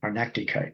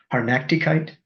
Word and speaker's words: Hartnäckigkeit: Arnaktigkeit, because that's in Hegel, absolutely.